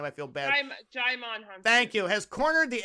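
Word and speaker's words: Djimon Hounsou: Poor Demon Hunsu. I can't pronounce that guy's name. I feel bad. Jaimon Hunsu.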